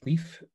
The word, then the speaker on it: Leif: I know everyone would prefer to pronounce Leif's name as Leif, but it's actually Leif.